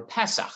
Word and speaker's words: Pesach: the public Siddurim for Pesach. And I say that in the Ashkenazi pronunciation because that is what is contained in the document.